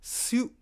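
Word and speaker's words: 四: Su. It's pronounced Su, right?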